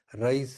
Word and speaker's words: Reye: This is seen in acute fatty liver of pregnancy, tetracycline poisoning, Rice syndrome. REYES is pronounced as RICE, Rice syndrome.